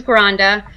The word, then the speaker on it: Granda: so my first name is, and last name is Granda.